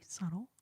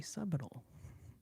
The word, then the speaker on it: subtle: Very subtle, or as I like to call it, subal. Very subtle. Don't let that silent B fool you.